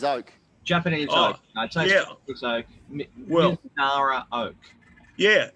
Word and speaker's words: Mizunara: I'm going to pronounce it wrong. Mizunara Oak. Yes. Missouri. No, Japanese oak. Japanese oak. Japanese oak. Mizunara oak.